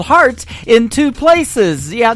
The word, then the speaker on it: Hart: good friend Robbie Hart it is HR t on her last name and that is called heart in two places yeah